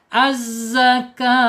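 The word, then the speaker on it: الزكاة: Az-zakat, kenapa saya baca az-zakat? Karena diawali dengan alif lam ya. Kalau kita diawali dengan alif lam baca a, wajib baca fathah ini. Az-zakah ya.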